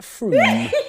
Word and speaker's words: Frome: Wrong, it's not Frome. Frome, it should be blitheringly obvious, is pronounced Froome.